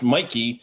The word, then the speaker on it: Mikey: is it's wonky but it's always been pronounced mikey and so i just spell it now m-i-k-e-y and i figured it